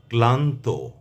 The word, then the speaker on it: ক্লান্ত: আমি আবারও বলছি যদি শব্দের বা পদের প্রথম ব্যঞ্জন বর্ণের সঙ্গে লফলা থাকে তাহলে সেই লফলার উচ্চারণ অবিকৃত থাকবে। অর্থাৎ ল এর উচ্চারণ স্পষ্টভাবে আসবে।